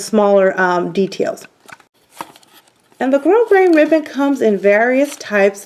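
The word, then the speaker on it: grosgrain: used to call it grass green but actually the S is silent so in case you guys didn't know that that's just a tidbit it's called grow grain so this is a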